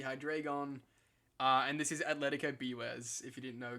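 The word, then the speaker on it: Atlético: my team name so it's Atletico cuz it's Spanish it's Spanish but I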